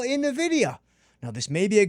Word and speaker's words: NVIDIA: And then lastly, let's say we go to everybody's favorite, everybody's darling, NVIDIA, which again is pronounced NVIDIA, NVDA.